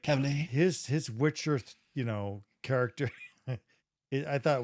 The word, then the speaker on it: Cavill: Like Cavill.